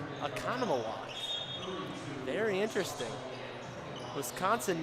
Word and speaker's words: Oconomowoc: ladies and gentlemen but that I gave Gavin Oconomowoc Oconomowoc very interesting Wisconsin names are much more difficult to pronounce than Central Illinois like Washington nice and